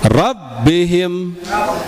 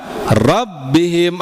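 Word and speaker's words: ربهم: itu nabr semuanya ya setiap ada huruf selain mim dan nun bertasdid nabrahk nabarkan ya dihentakkan ya baik na rabihim ya rabbihim ada jangan rabihim rabihim memang masuknya ada masuknya ada buihim tapi enggak ini harus lebih kuat lag rabihim ya kemudian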